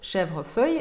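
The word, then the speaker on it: chèvrefeuille: Еще есть сложное название – «шевр-фейе». Помните такой парфюм у Гуталь? Так вот, «шевр-фейе» именно так и произносится.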